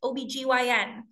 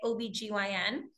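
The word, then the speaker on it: OB-GYN: call this in English OBGYN so we are more common to pronounce it as an acronym of letters than we are to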